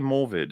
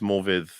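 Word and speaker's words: Morfydd: has he been saying morvid or something or is it because morphid is how you're supposed to pronounce that the Double D is a like a th sound in Welsh and then uh what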